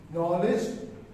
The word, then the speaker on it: knowledge: Knowledge, knee, knife, K is silent, right?